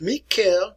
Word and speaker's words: Mikhail: family lancaster family with mikhail miquel romanov look at it like michael miquel if you're mikhail in russia